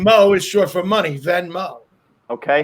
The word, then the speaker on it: Venmo: beginning both of you are right that it's pronounced venmo both of you were right about that all